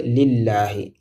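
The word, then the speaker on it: لله: Et si on fait la lecture c'est lillahi. La lecture du mot c'est li. Vraiment ici, il faut il faut deux ailes. OK. pour respecter la prononciation lillahi là c'est ra là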